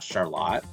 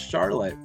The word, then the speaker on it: Charlotte: scroll out here because when you see Charlotte you're going to be like well that's not Charlotte that's Charlotte so right here I